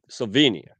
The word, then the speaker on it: Slovenia: great thing yeah slow slow uh uh SLO Slovenia did I say it right yes Slovenia yeah